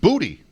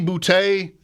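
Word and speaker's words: Boutte: Boot Booty. He used to be Bouty, but like many college players when they come to the NFL, they change how their name is pronounced.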